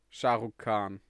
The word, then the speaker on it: Shah Rukh Khan: name that's basically the only name i know shah rukh khan that's how you pronounce it he watched it in america oh